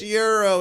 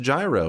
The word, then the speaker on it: gyro: There the whole time they're like, "It's Euro. It's Euro." And then it's like for the educated people it is pronounced gyro.